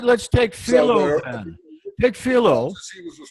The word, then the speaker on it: Philo: Everybody knows that Philo is pronounced Philo.